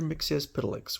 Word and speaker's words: Mxyzptlk: is the Menace of Mr mixes pedix which is the way I was taught to uh to pronounce it faster than a Jet